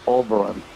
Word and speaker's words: Oberon: Uh, Oberon. That's how you pronounce it.